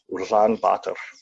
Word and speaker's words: Ulaanbaatar: The capital city is pronounced Ulaanbaatar. I don't think I say it properly still. I think rolling the R is kind of hard for me.